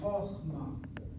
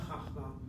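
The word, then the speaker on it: חכמה: as in the word chokhmah, as in the word wisdom, chokhmah. The accent is here. This syllable, CVC closed, kamatz, it's a short kamatz. Chokhmah, chokhmah, not chachmah, chokhmah.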